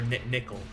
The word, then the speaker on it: Nicol: and red one uh nicole the green haired guy or nickel is the pronunciation he's the gosh i